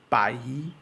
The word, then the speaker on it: bảy: Number 7 is bai, bai. Notice that there is an elongation on the Y sound.